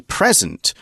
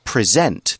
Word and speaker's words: present: noun we'd say a present or yes I'm present today as an adjective as a verb it's present there's more stress on the second syllable and it just means